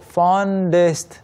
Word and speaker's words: fondest: 그리고 참고로 fondest 이 발음 네이튼 씨는 빠르게 하면서 in some places it can sound like funniest.